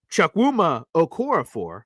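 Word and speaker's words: Chukwuma Okorafor: out to my New England Patriots people so chak wuma okoror is how you pronounce it chak wuma aor for okay let me make sure I get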